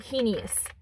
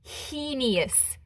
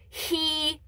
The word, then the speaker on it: heinous: maybe you should at least know how to spell it and say it. So I will show you why it is not heinous.